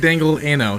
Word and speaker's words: Dangle Ano: You guys have been saying my name wrong. What do you mean? It's actually Dangle. Dangle Ano? It's Dangle Ano, yes.